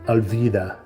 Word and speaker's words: alvida: It's pronounced as V, alvida.